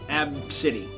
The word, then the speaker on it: Abcde: okay so apparently the kid's name is ABCDE pronounced AB City okay so in that